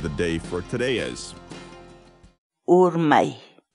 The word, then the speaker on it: Urmay: series videos where we teach you how to pronounce certain words in Quechua. So our word of the day for today is Urmay. Urmay. Urmay.